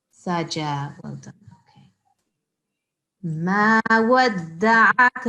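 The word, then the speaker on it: سجى: So there's no shad here. So it's not sajja. سَجَى. Saja.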